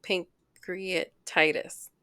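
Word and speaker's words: pancreatitis: I was told that I had a cute pink create Titus is that how you say it yes it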